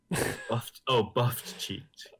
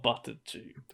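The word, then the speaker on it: buff-cheeked: Buffed-cheeked. Not buttered cheeked.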